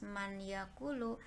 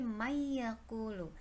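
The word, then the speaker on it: من يقول: Contohnya umpamanya nun mati atau tanwin ketika berhadapan dengan huruf iya, tidak dibaca man, nunnya jelas man yakulu, tetapi may yakulu. Jadi iyanya dimasukkan ke dalam huruf mim.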